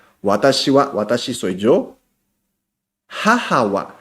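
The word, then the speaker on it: はは: Pero ¿por qué se escribe H-A? Segundo idioma de Japón es el inglés. En inglés, ha se pronuncia o se escribe con H-A. Por eso es jaja.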